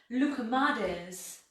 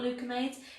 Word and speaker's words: loukoumades: and we are going to make loukoumades donuts. I figured out how to pronounce it. It's not loukoumades, it's loukoumades, which are a Greek donut.